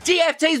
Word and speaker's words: GFT: GFTs because it sounds a bit like gift if you say it out loud phonetically, and you give them